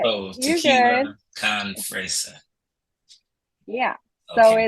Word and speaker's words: fresa: You got the first single, Tequila Con Fresca. Correct me if my Yes, pronunciation is wrong. And it's okay. It's fresa.